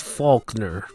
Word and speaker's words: Falkner: you may be thinking is that how you pronounce the name yes that is exactly how you pronounce the name i've heard people pronounce it like that before so i'm pronouncing it right it's just it sounds